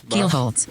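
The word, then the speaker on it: Kielholtz: Keelholtz.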